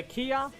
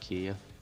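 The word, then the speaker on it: Kiya: I would pronounce it Kia. All I've done is just constantly say Kaya instead.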